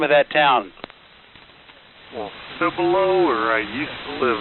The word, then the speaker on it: Cibolo: a number of ways see below might be a little bit more correct in terms of the spanish but uh that's about